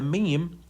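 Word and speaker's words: ميم: rooster so anyway the meme how to pronounce the meme so simply you just let the Two Lips come in complete contact without pressing you don't have to press just say m or mem m m okay simple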